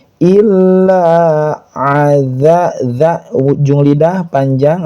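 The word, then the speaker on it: إلا: Tapi kum illa ilanya bertasydid ditahan. Eh bukan ditahan, maaf. ditekan kemudian panjang dua harakat illa aza dza ujung lidah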